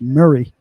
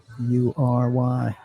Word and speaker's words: Maury: Lives in I think that's pronounced Murray, Maury, County."